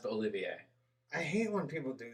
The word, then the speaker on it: Olivier: but it was like olivier armstrong olympia it's olivier i know it's spelled olivia but it's pretty it's pronounced the olivier i hate when people do that they just